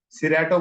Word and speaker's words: Cerato: तो अडेमेंट चाइल्ड के लिए सिरेटो, CERATO, अब इसको सिरेटो बोलो, क्रेटो बोलो, वो डिपेंड करता है हर किसी की अपनी प्रोनाउंसिएशन पे। सिरेटो बोला जाता है, रॉक वाटर, वाइन, चेस्टनट बड, चेस्टनट बड, ये भी एक हर्ब ऑयल है।